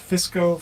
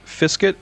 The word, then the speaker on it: Fiskit: Just appreciate you guys, Han, and Fisco for Fiskit. doing these. Fiska? How do you say his name? Fiskit, FSKT, Fiskit.